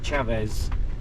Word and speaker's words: Chaves: We're going to a town, I think it's called pronounced Chaves.